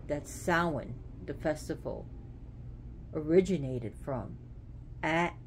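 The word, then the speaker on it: Samhain: the site in Ireland where it said that sowin the festival originated from at this cave and at that place which is spelled Sam Hayne but pronounced salwan you know Halloween Hallows Eve so here we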